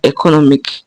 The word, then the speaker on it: economic: So you can see that NO is the syllable that comes before IC. Now this one obeys the IC rule. The IC rule. So it's NO. NO is capitalized. That's our stress.